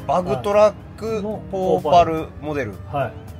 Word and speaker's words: PowPal: これは何これポーパルって読みますこあのこのシステムの名前みたいなことそうですねバグトラックポパルモデルはいお肉球